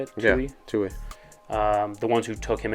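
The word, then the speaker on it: Tuohy: Blaming the Tui family. Right? Is that how you say it? Yeah, Tui.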